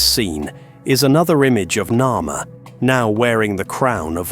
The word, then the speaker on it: Narmer: Most scholars agree this represents the name Narmer phonetically, with the catfish reading as Nar and the chisel as Mer.